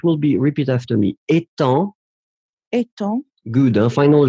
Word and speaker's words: étant: So we write it differently, but look at the two last words, so it will be, repeat after me, étant. Étant. Good, hein? Final G not pronounced, and then the other one, éteint.